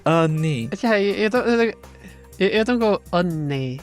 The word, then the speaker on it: Anne: If the second to last vowel sound is an A, it's more like an not an a. So it's and then if an word ends in E, it is pronounced E, not or just silent or anything. So it's ni.